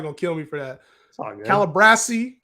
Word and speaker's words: Calabrese: kill me for that calabrasi Calabrese like Calabasas yo uh speaking of